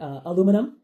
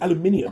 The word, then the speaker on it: aluminium: Or another one would be aluminum. Aluminium. There's an No. I in it. It's not aluminum. Aluminum. It's aluminium. The I silent.